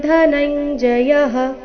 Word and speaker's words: ಧನಂಜಯ: ಇದೆ ವೃಷ್ಣಿನಾ ವಾಸುದೇವೋಸ್ಮಿ ಪಾಂಡವಾನ್ ಧನಂಜಯಹ ಇಲ್ಲಿ ಧ ಧನಂಜಯ ದ ಬೇಡ ಧನಂಜಯ ಬೇಡ ಧ ಮಹಾಪ್ರಾಣ ರಸ್ವ ಬರಬೇಕು ಧನಂಜಯಹ ಮುನಿನಾಮಪ್ಯಹೌಂ ವ್ಯಾಸಃ ಮುನಿನ